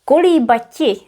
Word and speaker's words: kolíbati: Kolíbati is a more archaic version of this infinitive. Kolíbat. And because we needed 1 extra syllable here, it's convenient to use kolíbati and then kolíbat.